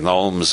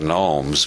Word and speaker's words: gnomes: prime minister called the Gnomes of Zurich everybody else pronounces that gnomes but Harold Wilson believed the G should be pronounced he said the Gnomes